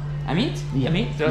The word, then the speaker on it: Amit: Amit, A-M-I-T. Amit?